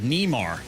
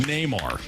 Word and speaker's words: Neymar: soccer players out there, Nemar. Near. Finding Near. Finding Near. Believe it's pronounced Neymar.